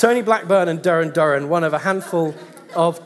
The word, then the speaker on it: Duran Duran: I said it but I mispronounce the name I said Darin Darin and planet Earth number 26 when of course it should be as everybody knows Duran Duran when you're doing this